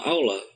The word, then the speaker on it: Allah: jadi perlu diketahui teman-teman Kenapa tidak menggunakan huruf o Kenapa menggunakan huruf a karena itu lafaznya karena itu harakatnya fathah ya fathah itu dituliskan dengan a adapun dalam gramatika bahasa Arab fathah itu kalau pada huruf yang yang berat huruf yang keras ya misalkan lam dobel atau huruf ro atau huruf Dod itu dibacanya o contoh ya Arrahman enggak